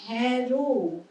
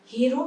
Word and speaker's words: হেরো: হ্যারো, হেরো নয়। হেরো শব্দটা কিন্তু অন্যভাবে ইউজ হয়, এবং সেটা হচ্ছে এটা একটা অপভ্রংশ, যেটাকে বলে হেরো মানে হেরে গেছে যে, সেই অর্থে। কিন্তু যখন হেরা অর্থাৎ দেখা, একটা ধাতু তো, ধাতু থেকে আসছে জিনিসটা তৈরি হচ্ছে, শব্দটা তৈরি হচ্ছে, তখন কিন্তু হ্যারো।